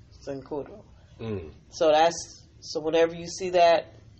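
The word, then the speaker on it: Cincoro: Securo, I'll spell it. C-I-N-C-O-R-O. Sincuro. Sincuro.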